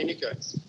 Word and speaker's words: Еникьой: Поправете ме, ако Еникьой, не слагам ударението така, правилно. Да, Еникьой.